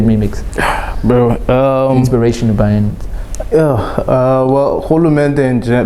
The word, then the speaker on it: Rhulumente: How do I pronounce the word? I don't want to make a fool of myself, bro. Rhulumente. Yeah, Rhulumente.